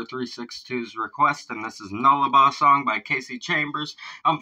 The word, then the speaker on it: Nullarbor: This is Brett Bridger 362's request of Nullarbor song. That's how it's pronounced. It's a Latin.